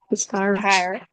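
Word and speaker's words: Tyre: How do I pronounce that name? Tire.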